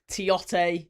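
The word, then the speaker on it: Tioté: Tiote, 3 syllables.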